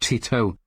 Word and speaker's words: Teto: It's pronounced Tito, and you should all listen to Kasane Teto's Tetris, but the lyrics are the complete history of the Soviet Union.